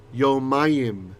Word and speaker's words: yomayim: So yom is day, but it's not yamim is how you say days. This is yomayim. Ayim is what we call the dual ending.